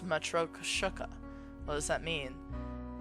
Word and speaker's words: Matryoshka: It's pronounced metro kushuka.